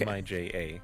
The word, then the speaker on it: Mija: M-I-J-A.